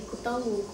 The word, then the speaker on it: каталог: точки зрения литературного языка приемлемым является вариант С ударением на последнем слоге каталог А так ли уж